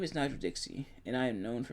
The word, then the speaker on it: Dixie: my name is Nigro Dixie and I am known for many things whether it be that my last name rhymes with Pixie or several qualities that